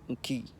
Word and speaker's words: Enki: Enki you will say it Nki, and Ankh you will say Ankh.